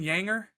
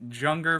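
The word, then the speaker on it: Juenger: defab Ball's got a couple guys but Hayden yanger um you know it's pronounced or it's spelled j u n g r i called him Jer forever but yeah Hayden yanger was one of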